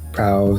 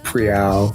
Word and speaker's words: Prowl: Then you had Min and Prowl, which I realized after hearing Min say Prowl's name, it's not Prial, it's Prowl. This R is silent.